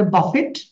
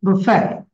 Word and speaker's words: buffet: Then the next wordটা, এটা অনেক সময় আমরা খেতে টেতে যাই, এটা বাংলাদেশে বলে buffet, but it will be buffet, buffet, buffet, right?